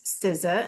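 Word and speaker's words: SZA: Siza which I didn't even know how to pronounce Siza until my kids told me.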